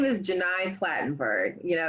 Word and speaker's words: Gheni: frequently misspelled my name so my name is Janine platenburg you know it's I know I understand it's not the easiest name to pronounce but it is Jenai platenburg and I teach journalism and so you